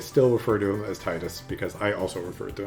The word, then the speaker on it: Tidus: I grew up pronouncing it Tidus. I feel like most Americans and probably Europeans as well would probably say Tidus, but supposedly it is actually pronounced Tidus. Right. The developers have confirmed that lore-wise it is pronounced Tidus.